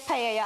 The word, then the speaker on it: paella: spanish people don't come for me i said paella i corrected myself so interesting because an owl actually is pronounced as a y so you do spell